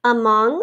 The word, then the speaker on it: among: Among, we have this schwa sound at the beginning spelled with an A, like about, among, amidst, and then ma-ong, ong, like ing, but with an O.